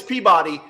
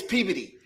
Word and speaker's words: Peabody: It's spelled Peabody. Peabody. Yeah. Everybody else, it's Peabody. Up there, it's Peabody.